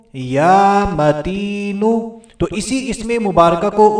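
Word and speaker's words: يا متين: توجہ کے ساتھ سننا ہے، اپنی پروننسیشن، اپنے تلفظ کو بھی لازمی ٹھیک کر لینا ہے۔ یا متینو، اس اسم مبارکہ کو ایک مرتبہ پھر سن لیجئے، یا متینو، یا متینو۔ تو اسی اسم مبارکہ کو اس عورت نے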